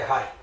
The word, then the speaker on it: Raí: Eu pronunciei errado, na verdade é Rai. Isso, é Rai, porque meu nome é Raimundo, então Certo. tira o mundo e fica Rai.